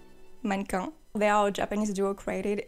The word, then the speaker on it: mannequin: to mention monica so i'm gonna say minecon i think in english you say manikins i'm not even sure but monika is a french word okay so i'm going to pronounce it the right way manko they are japanese duo